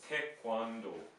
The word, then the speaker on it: 태권도: Now, one thing in the romanization of this is it often is spelled with a K in the middle, but there's no K sound, right? Yeah. This is more of a G sound.